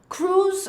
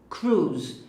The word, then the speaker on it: cruise: Cruise é um cruzeiro. Então, gente, presta bastante atenção na pronúncia. A gente diz cruise. Então, esse I não é pronunciado. É igual o nome daquele ator Tom Cruise.